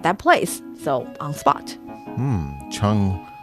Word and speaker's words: 场: Chang rhymes with fang, like defang.